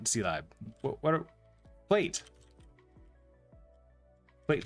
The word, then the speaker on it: zlib: You pronounce it zlib.